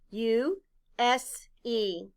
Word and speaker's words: use: spell it out loud u s e the letter u stands for the long u sound u the letter s stands for the sound z and the e is silent blend with me you